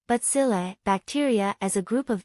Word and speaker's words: bacilli: the stick-shaped crew imagine bacilli pronounced butzillae bacteria as a group